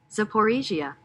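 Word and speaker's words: Zaporizhzhia: orders advance in uh Zaporasia if I'm saying that correctly. Matter of fact, let's get the pronunciation of that word really quick. Zaporisia. Yeah, I was close.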